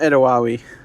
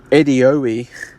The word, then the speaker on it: Edeowie: So, we've been saying it wrong. It's not Edawi. Even though that rolls off the tongue much better. It's actually Edoi. E D E O W I E.